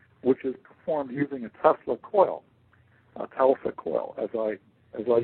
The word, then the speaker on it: Tesla coil: to 70 I came across a term called Tesla coil and of course I pronounced it telecoil I had no idea what itself a coil